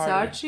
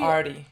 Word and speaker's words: Artie: I think it's Archie. Artie.